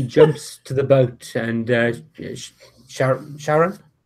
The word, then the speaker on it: Charon: He jumps to the boat, and Sharon, how did you pronounce it? Oh, Charon.